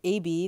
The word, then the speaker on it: Abi: I'm here with AB, that's how it's pronounced, and I'm gonna show you how to get through chapter one, Two Friends, and chapter two, Bronzeburg.